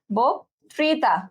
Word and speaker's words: বক্তৃতা: এই অটা কি হয়ে যাবে ওকার হয়ে যাবে, তাহলে বয় ওকার। আচ্ছা, আমি এবার মুখে যা উচ্চারণ করতেছি, আমি বলতেছি বোক, ওক, ঠিক আছে, বক্তৃতা, বক্তৃতা, ঠিক আছে? মুখে যে উচ্চারণ করতেছে আমি জাস্ট সেটাই লিখলাম যে বক্তৃতা।